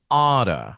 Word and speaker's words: Ada: It's Ada, like Prada.